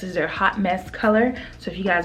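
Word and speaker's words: Haute Mess: i mentioned it before this is their hot mess okay it's spelled h-o-u-t-e-m-e-s-s this is their hot mess color so if you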